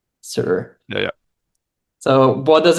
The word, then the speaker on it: Saor: Because Yeah, it's a Gaelic word, Saor. Sir.